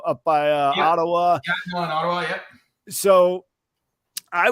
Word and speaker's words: Gatineau: The bass player is out of, I believe it's pronounced Gatineau, up by Ottawa. Gatineau in Ottawa, yep.